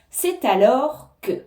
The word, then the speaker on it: c'est alors que: que c'est alors que on fait bien la liaison c'est alors que hein on entend le T c'est alors c'est alors